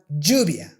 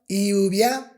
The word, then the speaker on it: lluvia: And my tip is that if you want to master the Spanish Y, you should pronounce that with the J sound in English, but you don't have to close your teeth that much.